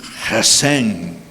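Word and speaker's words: Gesem: capítulo 2, verso 19 de Nehemías, dice, "Cuando lo supieron zambalar, el oronita Tobías, el oficial amonita y Jesén, así se pronuncia porque es árabe el tipo, ¿no?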